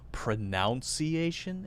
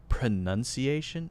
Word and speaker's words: pronunciation: Do you mean they say it as pronunciation? Is that what you mean, instead of pronunciation? Yeah. If that's what you mean, that drives me crazy. People say pronunciation. It's pronunciation. Pronounce is the verb.